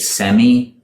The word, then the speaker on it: semi: Brits pronounce it semi, whereas the Americans pronounce it semi. Semi in the UK and semi in the US.